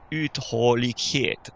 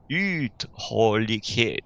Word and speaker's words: uthållighet: Alors, on a un U en début de mot qui est très long. Uthållighet. N'hésite pas à faire un peu de théâtre quand tu prononces le suédois pour être bien sûr de suivre ce rythme qui est si différent du rythme français. Donc imagine que tu divises le mot en 3. D'accord? On a 3 vagues.